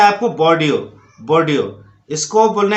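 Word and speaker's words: Bordeaux: जैसे इसको फॉक्स नहीं बोलना है, इसको फॉ, बोर्डियो, बोर्डियो, बोर्डियो, ऐसा नहीं कि बोर्डियोक्स नहीं बोलना है आपको, एक्स साइलेंट है सब में, याद रखना आप। तो इसको बोलना है आपको बोर्डियो, बोर्डियो।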